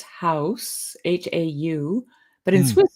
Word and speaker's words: Haus: In German, it's Haus, H-A-U.